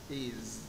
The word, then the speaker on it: is: có â Z này is my name is Ok Nếu như anh không đọc âm Z ở đây nó sẽ trừ điểm anh về phát âm là mất điểm đương nhiên mất điểm rồi đấy My name is